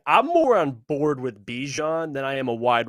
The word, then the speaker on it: Bijan: fandoms it's the the person rhymes with me Jean mominson okay this running back Bijan Robinson what is your